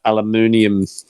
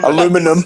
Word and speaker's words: aluminium: That bat went down like a aluminium... How do you say it? Aluminum.